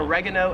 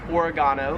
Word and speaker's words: oregano: like asthma 13 is this plant we would call regular oregano in the states however here in australia it is pronounced oregano this plant right here